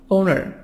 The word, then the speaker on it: owner: for money landlord landlord owner owner American British owner who makes the are silent in in British accent Anamika sound of schwa awesome ona ona ona